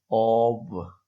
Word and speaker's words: of: मसलन जैसे ऑफ, हम इसको पढ़ते हैं, यहाँ एफ लिखा हुआ है लेकिन ये पढ़ा एफ नहीं जाएगा, वी पढ़ा जाएगा। ऑब, ऑब।